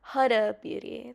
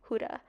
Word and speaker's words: Huda Beauty: Oh, Huda Beauty. That's how you actually say her name. But it's like such a common, like, it's such a habit to say Huda. But it's Huda Beauty.